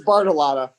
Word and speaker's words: Bartolotta: Am I saying it right, Bartolotta? Yes, Your Honor. Close. No, you say it. That's how you say it. It's Bartolotta.